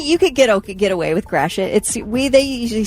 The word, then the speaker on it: Gratiot: That's Gratiot. It's Gray Shot. Yeah. Come on, that's Gratiot. Up in Detroit, that is a major road called Gratiot. Okay, I think that you could get away with Gratiot.